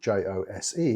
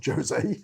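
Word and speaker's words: José: hostile it's hostel and the j is pronounced more like uh an h so when you see see the name j-o-s-e it's not jose it's jose so i think you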